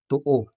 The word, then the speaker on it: to-o: The stress in these examples, bao, to-o, and loa, falls on the lone syllables, o in bao, also o in to-o, and a in loa.